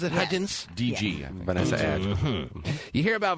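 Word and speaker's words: Hudgens: Vanessa hudin what's her name hudgin H Vanessa hudgin that's the way she pronounce it hudin DG Vanessa you hear about Vanessa hudgin having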